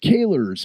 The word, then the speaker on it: Kahler: Well, all I know is that Taylor rhymes with Kahler, and I'm really he's nice that he's playing a Gibson and a Kahler.